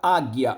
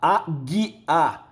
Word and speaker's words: águia: O que aconteceu de áquila para águia? Ó, áquila, áquila, águia. O que virou G, tá? Veja que esse U não é pronunciado.